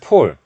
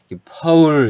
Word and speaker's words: pole: 폴 폴 지금 0.5 사실 포 올 발음은 폴 이렇게 하면 안됩니다 2 폴 이런 발음 아 이게 사람인은 폴 포를 제가 이렇게 계속 폴폴 하는거구요 이렇게 하면 안되고 이 발음은 pole 늘 파울 이렇게 발음 하셔야 됩니다 파울 에 파울 설수